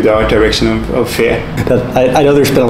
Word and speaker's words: Fe: and I mean it's it's a Swedish word it means fairy uh so we like to pronce it pronounce it the way we would normally do in Swedish speech which is fear uh but anyway it's